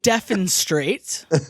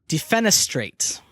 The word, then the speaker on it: defenestrate: is that defa straight okay I said deaf and straight okay Adam how do you say it I automatically Venice straight defenestrate mmm because you're unfenced